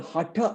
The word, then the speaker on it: Hatha: sutras and then later texts of course like hatha yoga pradeep gives a many asanas and so forth and it's it's actually hotter yoga hotter people yeah as in that second